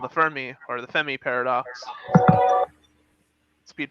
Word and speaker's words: Fermi: you guys say it fermi i just pronounce it femi because other people have told me no it's not for me it's femi yeah it's because the r is silent i i object to